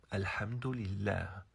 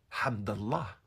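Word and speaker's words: الحمد لله: dire au a eu alhamdillah c'est comme ça qu'on prononce en arabe on ne prononce pas Hamdallah ou Hamdallah même ceux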